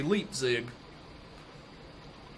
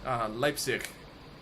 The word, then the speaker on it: Leipzig: America, of course, and we would say Leipzig. But it is Leipzig. Leipzig. What? Leipzig. It's a soft like CH at the end, I believe. Leipzig.